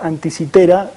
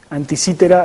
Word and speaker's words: Anticitera: De hecho se debería pronunciar anticitera, pero me enteré tarde y ya muchísimas veces pronuncié anticítera, así que me va a costar corregirlo. Probablemente diga anticítera, sepan ustedes que es anticitera.